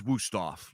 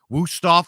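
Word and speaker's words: Wüsthof: the standard this is wusthof I'm sorry if I'm saying it wrong but that's how we say it in America wusthof Knives have been in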